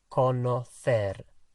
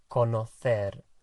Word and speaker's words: conocer: And it's conocer. Conocer.